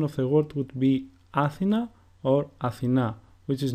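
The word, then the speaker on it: Αθήνα: So for example, when I pronounce the word Athena, the emphasis is put on the second syllable and not on the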